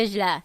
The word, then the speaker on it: Vizsla: The Vizsla.